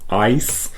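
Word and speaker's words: Eis: it because in German, when you have a word like ice, e i s, you pronounce it as an i sound because in that e and i defong, the i comes second. So you pronounce it ice.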